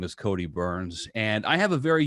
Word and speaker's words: Byrns: And so it's very ironic that my last name is pronounced Byrns.